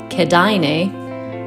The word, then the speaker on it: Kėdainiai: kaunas the town which i now know is pronounced kedaine is almost bang in the center of lithuania from calnus we hopped on the bus and in an hour we were pulling into the kadaine bus station we have arrived in canada took